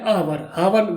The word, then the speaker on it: hour: तो here we won't say an hour, we won't say hour, we will say an hour means एक घंटा. So here H is silent.